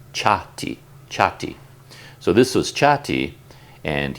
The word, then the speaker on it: Cati: I constantly get his name wrong because he spells it C-A-T-I, but the C at the beginning is a C-H sound, so his name is Cati.